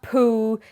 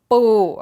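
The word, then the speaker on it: ปู: Crab is ป ู Now, I need to point out it's a very tight P. It's not poo, it's ป ู okay?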